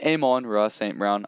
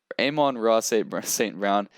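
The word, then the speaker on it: Amon-Ra St. Brown: wide receiver list is amon raw saint brown i'm pretty sure that's how you say his name i've heard people say it a little bit different but aim on racing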